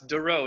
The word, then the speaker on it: Doreau: It's Doreau. It's French.